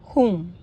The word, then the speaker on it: whom: वो ये है कि जब भी डब्ल्यू आर या एच से पहले होता है तो मैंने देखा है डब्ल्यू साइलेंट होता है।